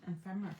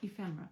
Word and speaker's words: ephemera: What do you think of these um ephemerra packs? Ephmera. I was I've been saying it wrong. ephemera packs.